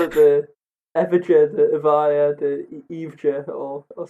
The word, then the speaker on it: Evija: A new EV, the Lotus Evija. Yeah, you're wrong. Yeah, I'm wrong. It's apparently pronounced the Lotus Evija, depending on where you're from.